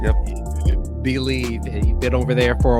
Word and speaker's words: Bleav: Bleav.